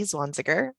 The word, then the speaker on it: Zwanziger: my name is zwanziger it's pronounced like swan tigger but with z's i'm a software engineer